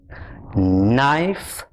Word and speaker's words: knife: with k n yo k is silent the sound is not the sound is so the words that we did in this little story are no knock knob knit knot knife knee seven words practice